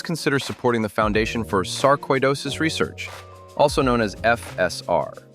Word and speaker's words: sarcoidosis: The word is sarcoidosis, not sarcidosis. Think koi as in koiish, which sounds